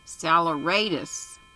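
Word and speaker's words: saleratus: look this up tell me how to pronounce it salaratus and what does it mean sodium bicarbonate okay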